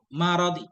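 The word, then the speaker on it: مرض: Ini bacanya khafifil maradi. Bukan marid, maradi. Fathah.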